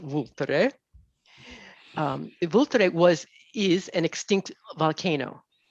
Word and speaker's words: Vulture: a alianico del voltare looks like vulture when you write it in english but it's pronounced vultre was is an extinct